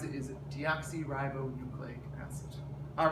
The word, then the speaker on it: deoxyribonucleic acid: goes with t and um the way you pronounce it is deoxyribonucleic acid all right thank you for watching